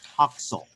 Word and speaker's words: Huxel: to let you know the way you pronounce my name is Huxel.